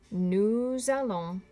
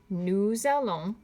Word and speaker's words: nous allons: interesting about those is you're going to have to use liaison when you pronounce them. Listen to them again. Nous allons, vous allez. Try it for me. Nous allons, vous allez. Remember, liaison is when we drag that S from nous or vous into the A